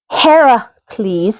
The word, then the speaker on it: Heracles: But you listen to Disney's Hercules, which, by the way, is the Roman pronunciation of said hero's name. Heracles is the Greek pronunciation.